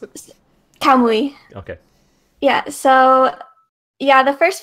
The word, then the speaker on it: Kamui: How do you pronounce it? Kamui.